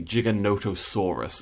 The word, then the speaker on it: Giganotosaurus: on jurassic world evolution but it should be giganotosaurus i believe that's the i believe that's how